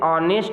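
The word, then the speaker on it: honest: आप यहां ध्यान देंगे ह जो वर्ड है लेटर है यह साइलेंट है इसे जब पढ़ रहे हैं तो आप इसे ऑनेस्ट प्रोनाउंस करते हैं अर्थात इसकी जो साउंड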